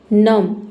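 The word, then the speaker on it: numb: तो दो सिचुएशन में बी लेटर साइलेंट है। देख सकते हैं। एक तो बी के पहले बी के बाद टी आ रहा है तब साइलेंट होता है और दूसरा बी के पहले एम आएगा तब साइलेंट होगा।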